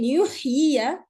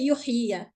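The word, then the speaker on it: يحيي: However, in yuhyiya, when I stop, I will not say yuhyiya. It will become yuhyi, because this ya turns into a sukun.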